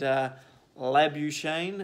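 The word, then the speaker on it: Labuschagne: Warner with 61 and a lab you Shane as I'm told it's pronounced with another good 74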